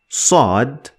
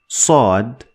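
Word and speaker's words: ص: So in order to pronounce sod sod sad sod need to lift the back of your tongue to the roof of your mouth to get it the best way. Sod sod.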